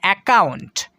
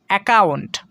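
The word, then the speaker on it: account: ও ইউ থাকবে সেখানে কিন্তু ডাবল সি এর উচ্চারণ শুধু একটাই করতে হবে, ক, এই সাউন্ডটাই আমাদেরকে করতে হবে।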